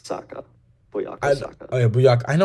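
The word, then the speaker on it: Bukayo Saka: Buyako Saka.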